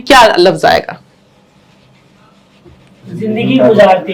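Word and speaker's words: गुज़ारते: जिंदगी अच्छा और अगला जो लज है वहां भी जे है जड की आवाज है गुजारते ठीक बिल्कुल तो अब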